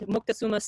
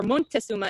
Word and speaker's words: Moctezuma: Moctezuma, or Montezuma as he is called in the text, and these names, these alternate names, are mispronunciations on the part of the Spaniards as they were trying to learn the indigenous people's names.